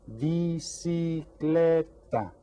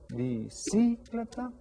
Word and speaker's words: bicicleta: Bicicleta. How many syllables? 4 syllables. And which one is stressed? Bicicleta. Bicicleta. Bicicleta. The third syllable has the stress on it.